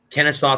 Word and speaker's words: Kennesaw: You have Miami against Drake, Indiana against Kent State, Iowa State, Pittsburgh, Xavier, Kennesaw State, if I'm pronouncing that correctly.